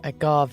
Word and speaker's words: agave: Oh, you said that the posh Spanish way, agave. I always thought it was agave.